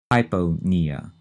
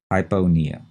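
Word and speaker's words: hypopnea: decreased respiration well that's hypona h y p o p NE a and again notice in that one the p in Pia is not set at all hypona and what is the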